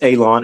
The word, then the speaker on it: Alon: And if you were just now joining in, um, uh, my name is Alon. Again, my name is Alon, pronounced like you're going to cut grass, like you're going to cut a lawn.